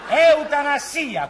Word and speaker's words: eutanasia: che si diceva fiaf No non si dice Fia eutan fiaf si dice eutanasia con la s ah ah Per evitare